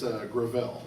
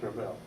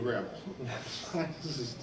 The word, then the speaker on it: Gravel: It's Gravel. Gravel. Emphasis on the second syllable. It's very hard to say. You have to think about it ahead of time. It's Gravel, but we call him Joe Gravel.